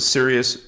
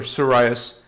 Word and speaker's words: Sirius: which is in sirious People pronounce it Sirius or siras s i r i